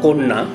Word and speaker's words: কন্যা: শব্দের আদিতে ব্যঞ্জনে যুক্ত অ এবং এরপর জফলা থাকলে অ এর উচ্চারণ ও এর মতো হয়। যেমন আমরা লিখব কন্যা, বলবো কন্যা।